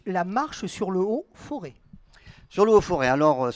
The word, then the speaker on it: Forez: auvergne on dit le forez parce qu'on les progrès gérance voilà les aides ne se prononcent pas quand on prononce non on ne prononce pas non plus le z c'est vrai mais metropcs